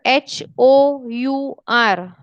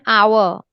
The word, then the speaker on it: hour: for example my word h-o-u-r however do i say however because it is starting with letter h i am not saying her i'm still saying it's an hour oh you are h is silent okay but i would